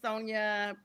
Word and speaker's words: Sonja: And it's Sonia before my last name gets butchered.